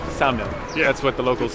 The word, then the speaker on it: Ksamil: You said it's Samil. I said Samil because a lady in Vlora told me that it's Samil. I said Samil. The K is silent. She says no, it's Ksamil.